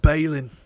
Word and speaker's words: Balin: or is it Ballin probably people pronounce it Balin but in his like Dwarven accent it comes out balling they call me Ballack but it's pronounced Balin uh chest dwarf worth we've got tree trunk